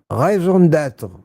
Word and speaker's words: raison d'être: Mitch, the last E is silent and the rest of the expression you got right.